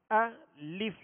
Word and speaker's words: الف: حمزہ پر زبر ہے اور اس کو کھینچیں گے نہیں، بغیر کھینچے بغیر جھٹکا دیے آواز اور منہ کھول کر ادا کریں گے.